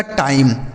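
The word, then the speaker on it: time: यही लिखा गया आपका टाइम टी आई एम ई टाइम एफ आई एन ई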